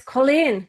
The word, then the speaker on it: Colleen: girl in Gaelic and pronounced like, you know, the the Irish way. It's Colleen, Colleen.